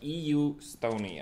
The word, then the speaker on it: EU Stoney: were discussing previously is correctly pronounced as EU Stoney you Stoney are correct and the team